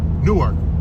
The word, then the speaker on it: Newark: fly out of Newark, Newark.